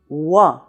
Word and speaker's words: Rouen: quickly into another sound so it's not two syllables it's one syllable but you hear a lot of the "ou" in the "wuh". So you have Rouen but you do not have ou plus en you have Rouen.